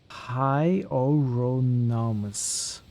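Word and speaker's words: Hieronymus: This is what Google says for the name Hyoronomus. Hyoronomus. Hyoronomus. Which means your art history teacher pronounced it wrong.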